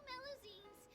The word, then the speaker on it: Melusine: Anyway, coming up ahead on your left-hand side is Miracy Village, the hometown of all Melusines, myself included. It's deep below the ground, just over there. Melusine, that's how you pronounce that.